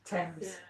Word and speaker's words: Thames: Thames. You pronounce Thames.